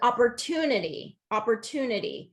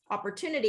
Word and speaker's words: opportunity: We were kind of talking about that one with Amadou, is opportunity. If we're not hearing the third syllable stress on that word, opportunity, you might be saying opportunity, and kind of pronouncing